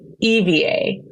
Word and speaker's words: Ivie: Ivie, and my name it looks like. People think I'm spelling my name, but no, it's spelled Ivie, but pronounced Eva.